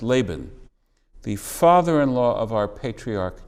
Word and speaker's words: Laban: in the haggadah about lavan whose name in english is generally pronounced laban the father-in-law of our